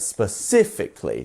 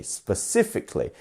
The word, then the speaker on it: specifically: part specifically specifically specifically we have four syllables which one it's our second one right specifically specifically specifically and that's how